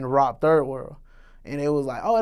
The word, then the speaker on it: Robiii World: My name, Robiii World, came from, it's actually pronounced Rob Third World, which is Third World Studios.